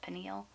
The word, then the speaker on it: pineal: eel pineal gland how do you say that pineal pineal okay from the cave of there you